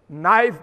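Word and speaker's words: knife: नाइफ में पहले के लिखा जाएगा, लिखो, बोला नहीं जाएगा, साइलेंट है, चुप रहो।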